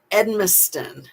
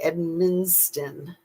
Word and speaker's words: Edmiston: Edmiston, Edmiston, because I want to say Edminston, but it doesn't have that N in the middle. It just has the N at the end.